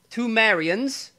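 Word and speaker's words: Pthumerians: there were the two marians uh i i think i'm pronouncing that right uh because the spelling is p-t-h-u-m-e-r-i-a-n-s sumerians tamarians yeah that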